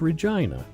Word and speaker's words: Regina: jokes are you and the capital that rhymes with fun capital of Saskatchewan is Regina that's oh wait a